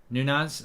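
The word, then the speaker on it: Núñez: not logical uh mark the second n in nunes is pronounced like the gn in lasagna uh nunas oh i don't know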